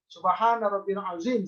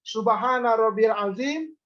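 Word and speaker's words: سبحان ربي العظيم: subhanallah wabihamdihi subhanallah hiladzim Subhana rabbiyal azhiim seperti itu diulang tiga kali tidak boleh bacanya begini Subhana rabbiyal adzimi tiga kali tidak boleh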